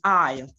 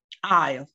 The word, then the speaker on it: aisle: Okay, the next word is aisle. This is the correct pronunciation, aisle.